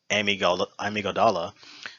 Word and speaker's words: amygdala: one of the organs being the, I believe it's pronounced amygdala, responsible for emotional behavior, mainly processing fear.